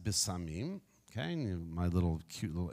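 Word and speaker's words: בשמים: have the word there in Hebrew okay it's pronounced bisamim okay my little cute little imagery there and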